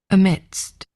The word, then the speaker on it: amidst: So, I think I'm sort of saying add uh uh uh a mid and then putting a st on the end of it.